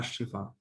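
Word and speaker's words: الشفاء: আমাদের ইম্পর্টেন্ট যেটা সেটা হচ্ছে তিনি একটা বই লিখেছেন যে কিতাব আল শিফা, কিতাবুশ শিফা, কিতাব আশিফা, আল না, এটা আরবিতে উচ্চারণ হবে আশিফা।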